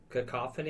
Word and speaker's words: cacophony: I can't pronounce that word. Cacophony.